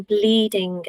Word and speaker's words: bleeding: on a call between bleeding and breathing. Now, there are pronunciation differences, but a key one is the difference between the L at the beginning, where the tongue goes